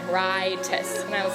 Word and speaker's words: Rytis: And she was saying, I think it's definitely rye, like rye bread, Rytis. And I was like, it's Rytis, for sure.